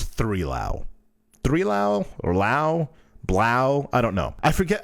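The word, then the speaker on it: 3LAU: On Tuesday, Threelau pronounced Blau. There we go. I thought it was Blau.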